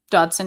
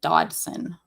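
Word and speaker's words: Dodgson: his so the spelling of this is inaccurate to how his name is said. It's like there's a silent G in between the D and the S.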